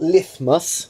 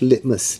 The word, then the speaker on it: litmus: acids red litmus it looks like it's about lift mus but it's pronounced litmus litmus paper litmus goes for alkalis no NIT